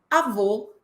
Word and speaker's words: avô: E aí, professora, é importante lembrar que o acento agudo marca timbre aberto e o acento circunflexo marca timbre fechado, como na opção avó, aberto, avô, fechado.